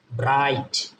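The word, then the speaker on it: bright: মতো ব্রিং বস সংযুক্ত বা অনুস্বারের মত এন উচ্চারণ ব্রিং ব্রিং আবার যদি আমরা লেখি ধরেন হচ্ছে ব্রাইট ব্রাইট বি আর আই ব্রাই আই এর পরে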